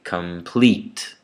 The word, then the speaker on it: complete: Again in complete, two vowels, two syllables there. The first one is unstressed, the second one is stressed, so there's an accent on it. So I would say complete.